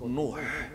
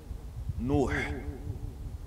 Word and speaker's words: Nuh: In English, how do you call Noah? Noah, how do you spell it? N-O-A-H, yeah, Noah. But it's called Nuh. Nuh.